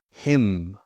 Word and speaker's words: hymn: Silent n often comes after an m. Autumn, column, hymn. A hymn is something you sing.